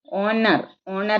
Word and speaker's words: Honor: Honor is H is here silent only.